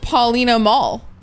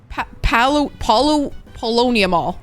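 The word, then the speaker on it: Paulownia Mall: Maybe I oughta hit up Paulina Mall. Polonia Mall.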